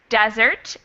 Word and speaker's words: desert: the Army one day what's the difference in pronunciation here stress desert and the dessert yep the stress the stress changes again so we've got